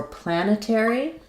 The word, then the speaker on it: planetary: So for planetary, we have stress on the first syllable plan. Letter A says the A sound. So we have the A like in black cat.